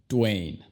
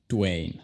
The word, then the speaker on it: Dwayne: Luego el nombre, Dwayne. Dwayne. Primero tenemos una D y luego se dice Way, como un mexicano.